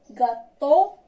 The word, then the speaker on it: gâteau: On passe la lettre E, A, U. بحال la lettre O se prononce O. تنطق O. O. ناخذ مثال gâteau, hello.